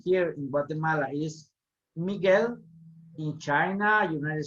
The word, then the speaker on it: Guatemala: The word, the letter T is hard to pronounce and is pronounced differently from English speaking people, okay, or English spoken people, and Spanish, okay? For example, we say Guatemala, okay?